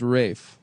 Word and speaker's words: Ralph: Ralph Fines.